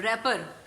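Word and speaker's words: wrapper: WRA रैड, PER पर, रैपर, W इसमें silent होगा, ठीक है।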